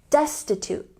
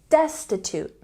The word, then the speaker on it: destitute: very poor say Destin with a stress on the first syllable destitute destitute once again destitute they are very poor